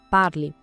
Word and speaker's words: parle: Parle. Já no presente je parle, essa terminação e é muda. O som morre no l, parle. A diferença é sutil, mas crucial.